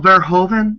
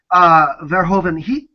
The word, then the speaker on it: Verhoeven: sound like a complete uneducated fool, but Paul Verhoeven, am I pronouncing his name right? Mm-hmm. Verhoeven, that film to me speaks of his style, very much.